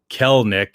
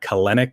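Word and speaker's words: Kelenic: calen uh jared kellnick kel nick it's uh i think i was uh told that it's two syllables not three so it's not clinic it's kel nick and um and he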